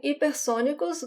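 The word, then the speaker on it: hipersónicos: alonso mississippi sonicus attacks so in ipersonicus the age as the first letter is silent in portuguese alonso misses reaction to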